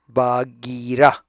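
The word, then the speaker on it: Bagheera: Balu, the bear, ब, ये क्या, आप कैसे इसको प्रोनाउंस करेंगे? बागीरा, okay, the panther, बागीरा the panther.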